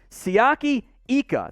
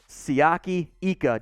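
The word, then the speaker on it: Siaki Ika: defensive line here make sure i get the pronunciation right sayaki ika the big boy along the front 6'4 350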